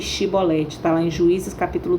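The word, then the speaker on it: Chibolete: Então dize, pois, Shibolete. Está lá em Juízes capítulo 12, versos 5 a 6. Aí ele já pronunciava Sibolete, pronunciava de forma errada.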